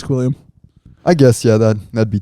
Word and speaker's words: Squilliam: Yeah, it's Squilliam.